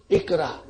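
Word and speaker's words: اقرأ: Because the Hamza of Amr is Hamzatul Wasal. If there is nothing in front of it, we will pronounce it. If there is anything in front of it, then it is written but not pronounced.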